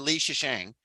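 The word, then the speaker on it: Lei Zhicheng: Yeah, Yang Wenning and Li Shisheng, which is also how I looked it up online on how to say it, and that's how they said it as well.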